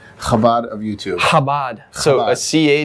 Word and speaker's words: Chabad: So Chabad. a CH is, you don't even pronounce the C, it's just Chabad.